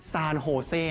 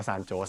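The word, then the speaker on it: San Jose: ศูนย์ กลาง เนี่ย อยู่ ที่ เมือง ซาน โฮเซ นะ ฮะ ไม่ ได้ อ่าน ว่า ซาน โจส นะ ครับ นอก จาก นี้ นะ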